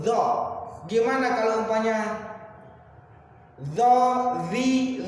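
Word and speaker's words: ظ: Jadi huruf dho itu cara menyebutnya adalah lidah ditekan ke gigi atas, maka hingga melahirkannya itu dho.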